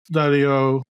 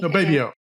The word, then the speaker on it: Baby O: Shoots Daddy O. Uh, anyway, am I saying his name wrong? It's Baby. Baby O. Baby O. Yeah, Baby O.